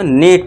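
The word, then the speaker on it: neat: एन इ ए T clean वाला स यानी कि साफ इसको इसको भी बड़ी ई की मात्रा से ध्वनि निकालनी है। तो नीट पढ़ना है।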